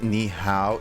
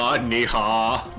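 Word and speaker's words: 你好: chinese things yeah justin it's not nihao it need neha yeah basically actually i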